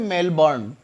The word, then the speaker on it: Melbourne: आर एन इस संबोधन मेलबोर्न इट्स not mail बांधे मेल बर्नियर साइलेंट रहता है यहां पर मेलबर्न मेलबर्न